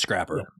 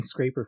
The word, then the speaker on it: Scrapper: it pronounced Scrapper yeah it's just Scrapper like scrap metal yeah I was saying scraper for a long time I don't know why